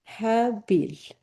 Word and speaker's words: Habil: We don't pronounce the H in English, so we make it Abel. But, it's supposed to be what? Habil.